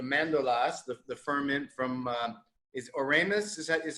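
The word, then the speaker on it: Oremus: dry wine the mandolas the ferment from is oramus is that is how you pronounce it okay and so how why hungary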